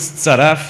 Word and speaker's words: ZF: It's pronounced ZF because it's German and British say ZF as well as the Germans.